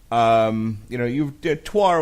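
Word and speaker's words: Týr: Yeah, I mean, I thought it was pronounced tier 2, but when I've heard the band pronounced as Twar.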